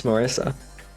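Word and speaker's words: Marisa: I Marissa that's not I did not pronounce mispronounce Marissa that's like I knew someone named Marissa once just it's Marissa it's it's not very hard sakuya remu remu Shamu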